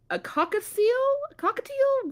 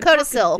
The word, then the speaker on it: codicil: A cockatiel? What is that? A Codicil.